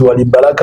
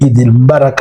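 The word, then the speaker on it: Eid Mubarak: Beaucoup de gens disent Wali Mbarak au lieu de dire Idil Mbarak. C'est-à-dire, vous voyez, au lieu de prononcer Idil Mbarak, les gens disent Wali Mbalaka.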